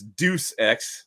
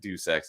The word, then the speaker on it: Deus Ex: So DJ Ronnie G says I used to think it was Deuce X, like pronouncing it Deuce. Yeah, I know. A lot of people said that Deus Ex and Deus Ex.